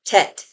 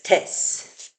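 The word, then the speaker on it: טֵית: So, for example, this letter, I would pronounce that tet, but they write it as tes.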